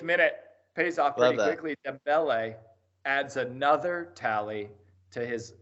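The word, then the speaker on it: Dembélé: Dembele adds another tally to his assist line this season.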